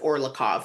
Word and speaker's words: Orlikow: I think you pronounce it Orlikov.